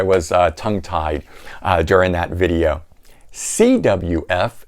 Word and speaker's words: CWF: CWF. In the video I said GWF, but you can see why that looks like a G, right?